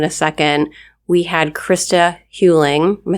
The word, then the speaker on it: Huling: We had Christa Huing. Am I saying that right? Yes. Because it rhymes with schooling.